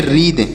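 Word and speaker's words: wreath: ए टी एच तो इसे क्या पढ़ेंगे इसे पढ़ेंगे रीद क्या पढ़ेंगे इसे पढ़ेंगे रीद यहां पर डब्लू साइलेंट है उसी इसे नहीं पढ़ना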